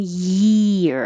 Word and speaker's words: year: end in the front to the rising of ye for why one year it's almost like this part like here ye ye year one year but this one you don't have to go as high for the y but you do have to raise your tongue for the e sound one ear you can